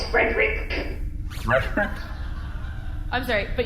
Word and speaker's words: Frederick: with your cousin it's frerick I'm sorry but you have to say it like you're swallowing the words it sounds like a cough sort of frck okay yeah that's fine